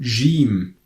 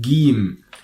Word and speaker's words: ج: gene we pronounce it game so usually your pronounces gene as I told you like in George are also like if you are saying giant for example gene gene but in